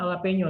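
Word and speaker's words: jalapeño: Dibacanya jalapeno tapi tulisannya jalapeno gitu loh.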